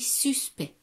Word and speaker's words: suspect: Alors, ça se lit, ça s'écrit suspect, mais ça se lit suspect. On ne prononce pas le C et le T.